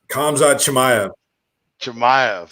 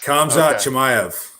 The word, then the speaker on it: Khamzat Chimaev: Khamzat Chimaev. Khamzat Chimaev.